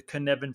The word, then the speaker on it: Cynefin: And then I would also read anything to do with the Cynefin framework. So that's spelled Cynefin with a Cynefin by Dave Snowden